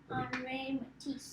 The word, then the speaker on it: Henri Matisse: How do you pronounce that? Henri? No. Henri Matisse.